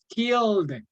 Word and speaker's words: killed: Killed anybody. Have you ever killed anybody? Okay, the ED pronunciation is D, killed.